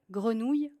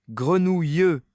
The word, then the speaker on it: grenouille: Oui, je me souviens d'un atelier où tout le monde tentait grenouille. Ça donnait des grenouilles ou même des grenouilleux.